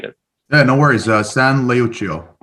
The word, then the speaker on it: San Leucio: pronounced it right Jay so if you can pronounce it correctly for the audience I'd appreciate it yeah no worries uh San leuchio San leochio Society right and this was a a saint